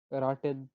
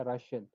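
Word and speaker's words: ration: ये शे की आवाज निकालेगा, एस एच। ये जो टी आई ओ एन है, ठीक है, ये किसकी आवाज निकालेगा? शे, राशियन, ठीक है, ये बनेगा राशियन।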